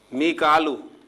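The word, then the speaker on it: ميكال: मीकालू, जिसे हम मिकाइल कहते हैं, तो कुरान मजीद में इसे मिकालू प्रोनाउंसिएशन के साथ जो है लिखा गया और अदा किया गया।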